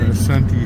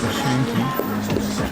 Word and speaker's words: Asante: A traditional Asante house, and it is pronounced Asante. The British added the S8 Ashanti, and it's not required, not proper.